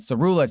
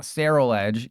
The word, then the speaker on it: Ceruledge: It's called Ceruledge, not Ceruledge.